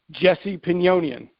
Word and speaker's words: Jesse Pinnonen: So we've established that it is a soft J. That's what it is. And I got the pronunciation of Jesse's name from Riccardo Magni, because when he was on the show, he used to say Jesse Pinnonen.